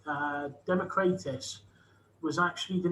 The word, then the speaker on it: Democratus: democracy led to democratus that's how why we pronounce it democritus i have been told by a very good free greek friend of mine it should be democratus because it's like um kratos um the the